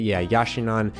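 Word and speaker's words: Yashinon: enjoy my Yasha non here is how you say it yah yah shine on 50 millimeter f1 point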